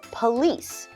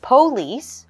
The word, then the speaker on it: police: We have our word police, 2 syllables. You'll notice there is an O, but we are going to change that to a UH sound. So instead of police, we will say police.